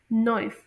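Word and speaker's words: noise: इसमें निकलेगी और एस को जी की तरह प्रोनाउंस किया जाता है, नॉइस।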